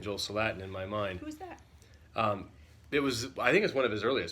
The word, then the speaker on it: Salatin: got a jolt of Latin on line it's pronounced Salatin cheolsu latin is how i pronounced it for 20 years before i heard him on youtube so I'll probably keep saying Joel Salatin in my mind it was I think it's